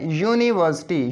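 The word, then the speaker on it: university: इस यूनिवर्सिटी को बोलते हुए, इसकी प्रोनाउंसिएशन करते हुए अब थोड़ा स्लो करके बोले, यूनिवर्सिटी, ये से स्टार्ट हो रहा है, यानी इससे, ये वावल साउंड से स्टार्ट नहीं हो रहा।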